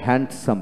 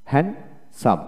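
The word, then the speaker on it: handsome: আমরা হ্যান্ডসাম বলি, ডি উচ্চারণ করি না, হ্যান্ডসাম এখানে ডি উচ্চারণ হবে না, হ্যান্ডসাম।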